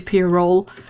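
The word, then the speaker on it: pyrrole: i heard that that you are supposed to see pier roll is when someone from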